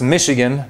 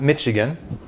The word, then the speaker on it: Michigan: The word Michigan, pronounced Mishigan, not Mitchigan, comes from the Native American word Mishigamaa, which means large lake.